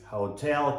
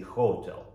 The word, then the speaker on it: hotel: Mind you, не hotel. Hotel California. Do you know why those people, the Eagles, the group called the Eagles, say hotel, hotel, and ruin the pronunciation of all our students? Of course, it's the law of singing a song. You know, if you sing hotel, then it does not rhyme properly. It's not very tuneful.